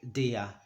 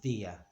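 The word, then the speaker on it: día: We don't, dia means day. We don't say dia, we say dia. I'm exaggerating the movement, of course. We don't say dia, dia.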